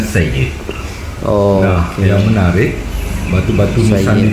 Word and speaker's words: Syed: Syed dibacanya Sayyid.